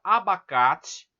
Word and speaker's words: abacate: Olha só, na palavra abacate, vocês percebem que o K de abacate é a sílaba tônica, está aqui em verde.